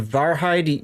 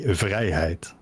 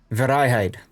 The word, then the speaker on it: Vrijheid: This is panoramics in the tier eight and I called it the varhide. You say it's pronounced better somewhere else, right? Uh we in the Netherlands say Vhide. Verhide.